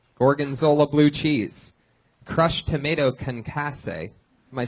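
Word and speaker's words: concassé: Crushed tomato concasse.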